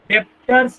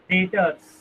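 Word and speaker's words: debtors: इस शब्द में बी अक्षर साइलेंट है, डेप्टर्स नहीं बोलते, डेटर्स।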